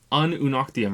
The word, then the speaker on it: Ununoctium: Ununoctium, right?